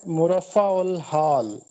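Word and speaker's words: مرفہ الحال: یہ چھٹی معروضی تھی، اس کا درست تلفظ ہے مرفع الحال۔ مرفع الحال یہ لفظ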